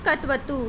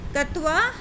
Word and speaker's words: क्त्वा: में डिस्कस करेंगे बेटा, कत्वा, लयप, तुमुन और कत्वतु। ठीक है, अब देखो बेटा, कत्वा प्रत्यय क्या होता है? इसको बेटा का साइलेंट होता है, त्वा प्रत्यय बोलते हैं।